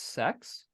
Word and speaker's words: CEX: Um and that company was called I think it's pronounced Sex. CEX.